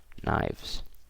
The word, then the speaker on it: knives: knife becomes knives okay K is silent you guys knives okay instead of F